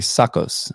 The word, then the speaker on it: Tsakos: And his name was spelled Tsakos, but it's actually Tsakos. Tsakos I believe is how we pronounce his last name.